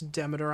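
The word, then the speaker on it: Demeter: it to you frost demerist told me so much that is not how you pronounce her name it's Deiter I know I just wanted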